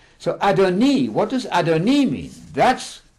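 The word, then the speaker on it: אֲדֹנִי: at that second law the word is the adoni there's a vowel here underneath the noon there pronounced e not i not adonai absolutely not that makes a huge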